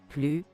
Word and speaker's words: plus: Mais à la forme négative, non, nous ne sommes plus intéressés. Attention, à l'oral, on ne doit pas prononcer le S final de plus.